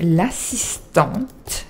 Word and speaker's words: assistante: Donc on va dire, selon lui, elle est l'assistante. And you pronounce the T, because there's an extra E, okay?